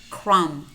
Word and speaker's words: crumb: comb comb climb climb notice how many of these words we have em B clusters and in these words normally the B is silent we only pronounce that